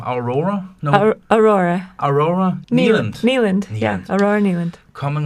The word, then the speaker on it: Aurora Nealand: How do I pronounce the name? Aurora? No. Aurora. Aurora? Nealand.